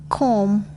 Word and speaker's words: comb: B is not pronounced when following M at the end of a word. climb, Cram, dumb, comb.